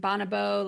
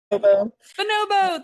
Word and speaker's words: Bonobo: And then what about your other personal work and Bonabo? Like where where can everyone get a hold of you? Sorry if I mispronounced that, Missobo. Bonobo.